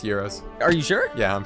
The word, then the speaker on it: gyro: gyro the propeller heroes I've heard it with an H like hero no they're pronounced heroes are you sure yeah